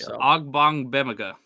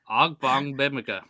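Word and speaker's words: Ogbongbemiga: It's Ogbongbemia. Oh, is it? That's how you say it. That's how you pronounce it. Yeah. Ogbongbemia.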